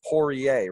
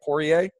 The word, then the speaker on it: Poirier: So you have the R in the middle, but it's Poirier, right? Poirier.